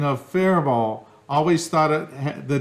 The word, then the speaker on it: Faribault: Minnesota, the pronunciation of Faribault. Always thought the T was silent, but have heard you say different. The correct pronunciation is with a silent T. It's a French name.